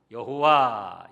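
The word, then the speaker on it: 야훼: 니다 여기 여호와 그러면은 원어로 보면 야외 왜 그래야 우 예 야외 라는 발음이 조금 하기가 교인이 까 여호와 이렇게 한답니다 여호와는 약속대로 이루시는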